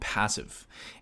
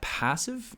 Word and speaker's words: Passiv: a little demo here of a platform called passive and this is their website I will link